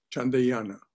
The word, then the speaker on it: Chandrayana: Somebody pronounce that for me. Chandrayana.